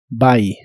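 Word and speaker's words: buy: significa comprar la u de esta palabra se pronuncia como a by by y usarás el verbo y complemento get there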